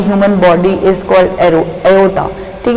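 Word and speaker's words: aorta: The largest artery in the human body is called एओर्टा, ठीक है। और देखिए जो हमारी जो बॉडी के अंदर जो सबसे लार्जेस्ट जो आर्टरी है वो कौन सी है? एओर्टा है, आर साइलेंट इसमें एओर्टा।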